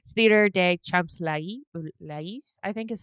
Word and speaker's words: Champs-Élysées: Theater de Champs-Élysées, I think is how they pronounced it.